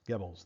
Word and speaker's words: Goebbels: It's pronounced Goebbels, that's correct.